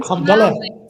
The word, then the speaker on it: Hamdallah: Is it Hamadella? You've got it, Hamdallah.